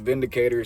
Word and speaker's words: Windicator: I believe it is pronounced Vindicator, seeing as this is a German made firearm.